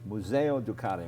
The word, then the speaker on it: Museo Ducati: Now, if you have any doubt that motorcycles are art, then you should pick up this book, Museo Ducati.